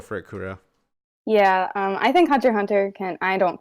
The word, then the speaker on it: Hunter x Hunter: you talk to any hunter hunter fans like they all have a different favorite character because they're all so fleshed out amazingly and you're not supposed to pronounce the X you easy said is